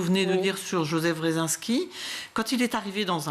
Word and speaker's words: Wresinski: La spécificité d'ATD Quart Monde, c'est que le mouvement a été créé par un homme qui s'appelle Joseph Wresinski, c'est comme ça qu'on prononce.